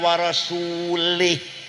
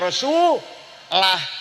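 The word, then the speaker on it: رسوله: Wa annallaha barium minal musyrikina rasulih. Salah. Artinya Allah tidak melindungi orang musyrik dan tidak melindungi Rasulullah. Salah bacanya harus wa annallaha barium minal musyrikina rasulah.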